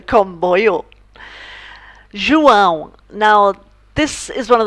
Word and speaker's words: João: said his name was João. And my friend said to him, João a drink. So, João a drink. It kind of stuck with me. I never ever forgot how to pronounce the name João.